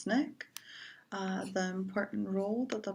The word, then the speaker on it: SNCC: Student Nonviolent Coordinating Committee SNCC pronounced snick the important rule that